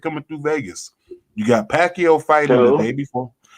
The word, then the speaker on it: Pacquiao: Pacquiao.